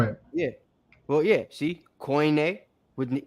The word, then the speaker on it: Koine: So it's not coin or kun, it's koine.